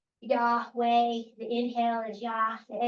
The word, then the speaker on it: Yahweh: So when pronounced without intervening vowels, it actually sounds like breathing. Yahweh.